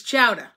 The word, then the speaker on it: chowder: yes casey white chowder oh and it's chowdah right c-h-o-w-d-a-h chowder so if y'all are watching from another part of the country and you want to learn how to say the word chowder it's chowda okay um where was i